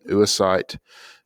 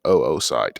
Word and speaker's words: oocyte: which is called an oocyte. And that pronunciation is funny, but it looks like oocyte, and some people will actually pronounce it oocyte.